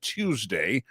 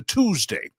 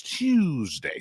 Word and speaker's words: Tuesday: Tuesday is another one that people have made fun of me for a clear pronunciation of Tuesday as opposed to Tuesday. It's not T-O-O, it's Tuesday.